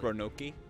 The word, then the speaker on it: Roanoke: that ship dead ahead the cms roanoke it's pronounced ronoki yeah let's hope so